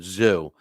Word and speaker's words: Tszyu: I murder languages, and Giup is correcting my pronunciation of Tim Tszyu. And he's, it's, he's saying Zoo, listen, my show is. I can't even pronounce my own last name. So, I appreciate the correct, but some people get so uptight over it. It is what it is. Tim Tszyu, it's not kazoo as in Fred Flintstone's kazoo.